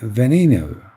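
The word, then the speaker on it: Veneno: A Venino. That's how you pronounce it.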